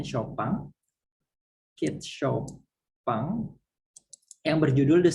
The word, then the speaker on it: Chopin: Cat Chopin, ini bacanya Chopin.